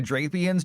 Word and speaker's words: Drapion: I was going to make a does the curtain match the drapions joke, but it's pronounced drapion, so that's ruined.